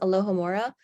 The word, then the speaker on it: alohomora: air and then Aloha this is pronounced alohomora you're not going to need to know this word in the future because it's kind of just a Harry Potter word but that's how you would pronounce it it's the opening door